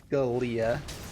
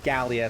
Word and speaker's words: Gallia: All right, well, we will kill Galia. Gallia, sorry.